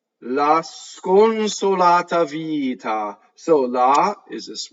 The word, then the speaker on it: sconsolata: La sconsolata vita. So la is this weak monosyllable. Sconsolata, right? lots of single consonants. Sconsolata. The N, however, is nasalized, right?